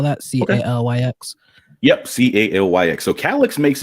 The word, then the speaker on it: Calyx: your regular devices uh but you know on calyx OS you can you can block all this